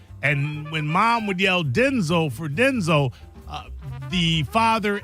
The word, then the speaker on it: Denzel: So proud I had some audio to Well, my name's not pronounced Denzel.